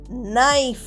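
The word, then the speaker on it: knife: নো নো মানে জানা I know the answer আমি উত্তরটা জানি নেক্সট হল কে এন আই এফই নাইফ মানে ছুরি প্লিজ ইউজ নাইফ কাটঅপল অর্থাৎ আপেল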